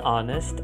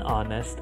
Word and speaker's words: honest: say I am an honest man as opposed to I am an honest man because the H is silent and the real sound